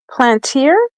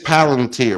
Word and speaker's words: Palantir: Okay. Plantier? Is that how I say it? Gotham is a modern solution. It's Palantir. Palantir.